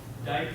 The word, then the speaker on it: Dyck: Now, the one that we're going to be talking about here is, it's called die cast. Now, it looks like it's Dick, and I will probably